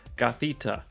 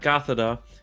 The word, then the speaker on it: Gothita: into the event that's currently going on is gothita so not gothida and i think that's how i was pronouncing it but uh it's cathete and that's